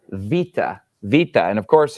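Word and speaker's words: βήτα: Vita and of course if you're used to the Americanized pronunciation or the reconstructed pronunciation you you would know this as beta but it's actually pronounced Vita and it makes a v sound like a V and Vita is basically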